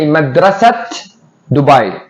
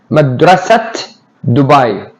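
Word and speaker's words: مدرسة دبي: I say Madrasat Dubai. Madrasat Dubai. I pronounce it.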